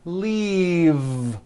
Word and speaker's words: leave: This last word, leave, is very different from the word leaf, like from a tree, which has an unvoiced F. The word is leave with a voiced V.